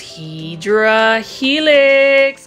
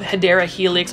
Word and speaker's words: Hedera helix: I really appreciate you dropping all of those Hydra Helix comments. And for those who don't know what Hydra Helix is, that is really mispronunciation of Hedera helix or English ivy.